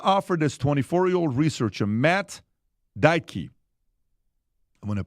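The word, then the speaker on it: Deitke: So, Meta offered this 24-year-old researcher Matt Dyke. I'm going to pronounce the last name properly.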